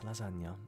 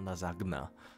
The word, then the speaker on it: lasagna: And then you have some people who just take it and don't even pronounce the nya, they just call it lasagna. And I'm like, it's lasagna, it's not lasagna.